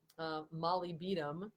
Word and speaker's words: molybdenum: with sulfur metabolism but taking molybdenum Mally beat'em is another way to pronounce it phonetically that that can be